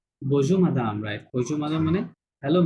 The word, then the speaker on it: bonjour madame: উচ্চারণ করেন। বজু ম্যাডাম বজু মাদাম, right.